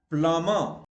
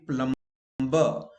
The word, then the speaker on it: plumber: Okay, other examples, plumber. But in India, we wrongly pronounced, we say plumber.